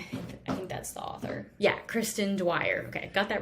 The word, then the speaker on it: Kristen Dwyer: I think that's how you pronounce her name. I think that's the author. Yeah, Kristen Dwyer.